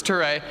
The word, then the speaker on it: Touré: We were in a small southern town called Touré, which we pronounced as Tourette's at the time, but it's Touré.